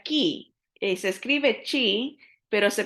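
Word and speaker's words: χ: La letra X en el griego se pronuncia ki.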